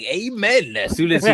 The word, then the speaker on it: Amen: How do you pronounce his name actually? Amen.